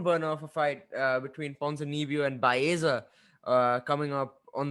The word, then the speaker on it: Ponzinibbio: speaking of that card, there was one barn burner of a fight between Ponzinibbio and Baeza coming up on the main that came up on the main card.